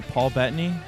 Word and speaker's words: Paul Bettany: So Paul Bettany? Is that how you pronounce it?